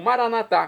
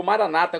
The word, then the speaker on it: Maranatá: E agora eu clamo Maranatá, como dizemos nós católicos, ou maranata, como dizem nossos irmãos separados, os evangélicos ou protestantes. Não importa a pronúncia, o significado é o mesmo.